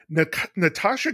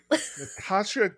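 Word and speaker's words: Nastassja: Natasha Kinski is mentioned twice by two different characters as being very sexy in this book.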